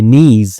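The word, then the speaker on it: knee: बट लेकिन माय नीज़ यानी कि मेरे जो घुटने हैं, नी घुटना होता है के साइलेंट होता है।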